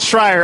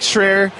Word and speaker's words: Schreier: who knows us, because they know to pronounce it Schreier. Otherwise, it does look like Schreier.